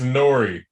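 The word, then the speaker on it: N.O.R.E.: that you know uh is it n-o-r-e or no how how do you pronounce this motherfucker's name it's nori but the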